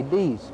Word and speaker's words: dix: Other people think it comes from the French word for 10, which is D-I-X, In English we'd pronounce it dicks, but I think they say dees, but that may have contributed to it.